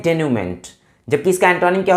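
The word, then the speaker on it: denouement: the correct pronunciation of this word is डेन्यूमेंट, और ये word इसलिए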